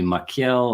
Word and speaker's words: Machiel: Well, I um so which is a Dutch name, very difficult for most Americans to pronounce. Most people call me Miel or anything that comes close to it.